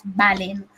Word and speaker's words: Ballin: falling not ballin ballin that's his actual pronunciation guys it's ballin not bad so yeah she i